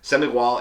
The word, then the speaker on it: Sem Igual: about this region and about these wines so semi wall in portuguese means no equal it's a play on the pronunciation of the number 100 as well which